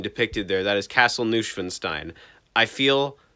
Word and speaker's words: Neuschwanstein: oh god oh geez it's pronounced neuschwanstein it's not nushfenstein i feel like a idiot please please forgive me